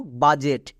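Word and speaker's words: budget: যেমন দেখো বাজেট, এখানে ডি আছে, ডি এর পরে জি আছে, তার মানে ডি সাইলেন্ট।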